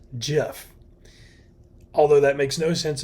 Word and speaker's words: GIF: to the individual all the way down it's GIF everyone calls it gif that's wrong as it